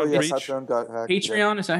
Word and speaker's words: Patreon: Patreon, yeah.